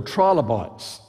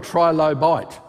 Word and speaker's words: trilobite: do we call it trilobite well you Americans say trilobit but I say trilobite because it's Tri three loes three loes see silence isn't all that